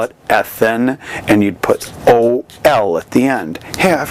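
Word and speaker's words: -ol: Now they have the suffix OL, or OL is how you say it.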